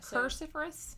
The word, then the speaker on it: cruciferous: avoiding you know like high fiber vegetables or cruciferous plants like broccoli and cruciferous cruciferous yeah cruciferous cruciferous like cix you're making that word like